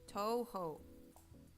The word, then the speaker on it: Touhou: Oh no, it's spelled Touhou. Toho.